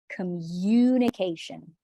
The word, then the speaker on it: communication: communication of effective communication communication there's a youth sound in there communication communicate all right